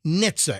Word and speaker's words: NHTSA: Transportation safety administration what is a silent h Nitza and it's n h t s a Nitza